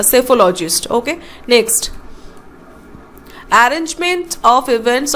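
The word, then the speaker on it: psephologist: Okay, यहाँ पे P pronounce नहीं होता, सेफोलॉजिस्ट।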